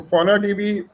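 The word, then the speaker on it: FaunaDB: n a d d v how do you pronounce it fonan db honor db yes so fauna db we are going to uh also you start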